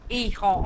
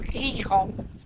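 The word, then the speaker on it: Gijón: Yeah, Ehon or Hehon. It's pronounced like a right funny. It reminds me of a donkey, like Hehon, Hehon.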